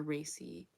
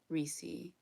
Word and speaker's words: Reese: So like, would it be Reese or Racy? Reese.